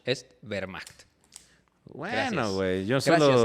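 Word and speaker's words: Wehrmacht: La W se pronuncia como B, así que la Vermacht no es wmch, es Vermacht."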